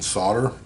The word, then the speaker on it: solder: numerous different languages and we pronounce solder without the l okay let's um this